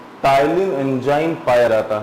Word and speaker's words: ptyalin: लार में टाइलिन enzyme पाया जाता है।